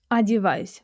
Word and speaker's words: одеваюсь: Here you could also notice the unstressed o in the word одеваюсь, одеваюсь, which is pronounced as a, одеваюсь.